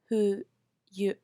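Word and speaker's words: 冬: key uh Ki Aki winter we say who you who you who you now that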